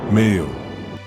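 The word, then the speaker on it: 名誉: Pronounced, Meiyo.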